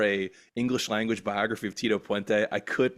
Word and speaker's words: Tito Puente: feel like Rob you're doing it a little wrong when you say his name is Tito pente I feel like you have to say his name is Tito pente like to him you